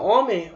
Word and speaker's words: homem: Se você tirar isso aqui, ó, homem, você consegue pronunciar do mesmo jeito.